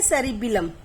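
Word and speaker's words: cerebellum: अगला है सेरिबिलम, यहां बस बेल का अंतर है प्रोनाउंसिएशन में, सेरिबिलम।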